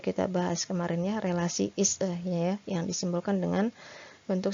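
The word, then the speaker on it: IS-A: Ini sudah kita bahas kemarin ya, relasi is-e ya, yang disimbolkan dengan bentuk segitiga itu ya. Jadi sebenarnya itu dibacanya is-e ya, bukan isa, bukan isa gitu ya. Jadi dalam bahasa Inggris dia is-e gitu.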